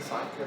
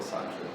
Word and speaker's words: Sacer: El Homo Sacer era la pronunciación, ¿verdad? Pues le dicen Sacher o Sacher.